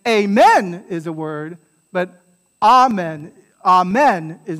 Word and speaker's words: amen: the word is pronounced amen amen right and the stress is on the ah right not the men amen so the word